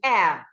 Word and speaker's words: heir: Air, when you say he is the heir apparent, it's not hair, it is air. The H is silent.